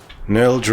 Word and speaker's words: Nilj: Nilj rhymes with bilge.